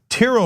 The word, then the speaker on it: Tiro: Tiro writes in, and he explains that it rhymes with Firo, so I got it.